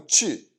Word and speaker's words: 去: And this chu is pronounced that way because it really is this sound, U with an umlaut, but the umlaut isn't